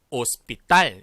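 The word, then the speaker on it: hospital: 발음하지 조 그리고 다음 단어 하우스 빌어 아니고 op 딸 이라고 발음합니다 자부 지금 보시는 것처럼 호텔은 어 뗄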